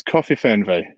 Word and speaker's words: Kofifernweh: right k-o-f-i-f-e-r-n-w-e-h correct exactly it's coffee fan va and as i said at the beginning it's not designed or or thought up to be pronounceable that's not the point